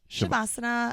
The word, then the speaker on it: Savasana: So Savasana. Yeah. Is that how you pronounce it? Shavasana. Shavasana. Yeah, I might not be doing it perfectly, but yeah, Shavasana.